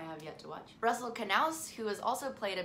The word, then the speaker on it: Canales: yet to watch Russell Canales who has also played a bit for the men's national team but didn't waste any time getting his plan B together for his post MLS career it's pronounced canals now you know Steve